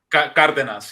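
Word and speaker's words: Cárdenas: That was like the age of Cardenas, right? How do you say his name? Is that right? Cardenas, yeah.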